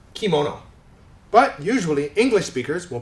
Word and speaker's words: kimono: another Japanese word kimono right in Japanese it's pronounced kimono but usually English speakers will pronounce it kimono like that now the reason that this happens